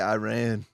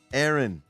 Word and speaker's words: Aaron: Why does my name say Iran? You're a little late to noticing that. Yeah, it's been there since the last game. Because we were fucking around with how to pronounce, your name. Aaron. It's Aaron.